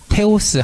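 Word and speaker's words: θεός: 그래가지고 요 발음은 T 발음, 그다음에 이건 EOS 뭐예요? 테오스, 하느님이라는 단어고요.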